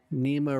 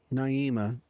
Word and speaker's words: Naima: That was number 3, Nima, in for Santiago. Naima. Sorry about saying your name wrong there.